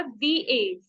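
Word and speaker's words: diez: दी एज, द के ऊपर ई की मात्रा, दी एज।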